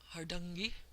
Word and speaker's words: Hardanger: native Norwegian speaker, and it sounded like something like hardungi, which I can't possibly say. But again, I rely on my dictionary, and I have an unabridged one for this. I won't dig it up for you. But they say that the A vowels are the ah sound, like in bother or caught, or for many of us Americans, father. And the accent is here on the first syllable, so they say it's